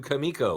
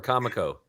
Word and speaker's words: Comico: love that the cover is a tribute to kamiko or Comico is the proper pronunciation I was always wondering yes kamiko okay